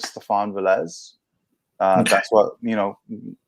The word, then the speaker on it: Stephan Velez: the first to ask so it really depends uh my actual name is stefan velez uh that's what you